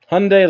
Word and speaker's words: Hyundai: Hyundai like Sunday.